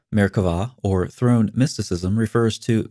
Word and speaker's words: Merkavah: of Jewish mysticism called Merkavah mysticism. Frequently spelled with a B but pronounced with a V, Merkavah, or throne mysticism, refers